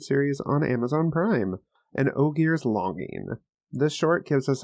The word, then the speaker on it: Ogier: It's ogier, like ogre.